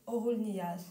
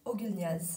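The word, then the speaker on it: Oğulnyýaz: Mais mon vrai prénom c'est Orul Niaz, ou avec une prononciation française, Ogul Niaz.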